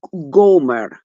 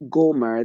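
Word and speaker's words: Gomer: a wife know so he went and took Goomer g o m e r the daughter of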